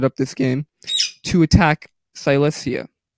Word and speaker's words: Silesia: this game to attack Silesia Silas yeah is that how you say it yeah Silesia sorry if it's an